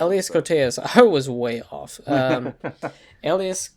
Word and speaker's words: Elias Koteas: Is it Elias Cotes? Elias Koteas, I think, is how you pronounce it. Elias Koteas.